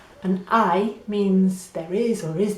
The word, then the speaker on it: hay: this one is HAY the H is silent so it's HAY and HAY means there is or is there?